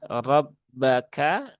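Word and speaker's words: رَبَّكَ: Rabbaka. Nah, di sini kembali ya tadi di ayat 13. Rabbuka di sini rabbaka rnya fathah. Maka dibaca dengan tebal.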